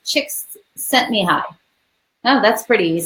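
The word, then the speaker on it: Csikszentmihalyi: way because she also gave the way to pronounce it. And so that is the name. And it looks like it's Chicks Sent Me High.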